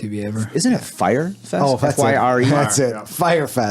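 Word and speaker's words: Fyre: Fry Fest. I don't watch About it? TV ever. Isn't it Fire Fest?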